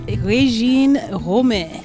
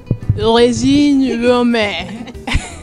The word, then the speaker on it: Regine Romain: have a lesson so how do we pronounce your name it's rein Rome rein Rome that's very close it's